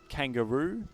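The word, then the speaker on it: Kangaroux: previous round perhaps better known by his Alias kangaroo Peru spelled with a the the method we're spelling r-o-u-x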